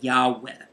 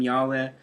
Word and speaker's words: Yahweh: pronounce it actually but usually we say Yahweh in Hebrew these are four consonants why h wh we don't know what vowels with with these continents because we haven't pronounced that name for such a long time the Jewish people were